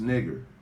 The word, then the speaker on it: Niger: It's pronounced nigger, but I'm going to show you how.